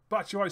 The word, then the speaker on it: Batshuayi: I keep mispronouncing his name, but it's Batshuayi scores.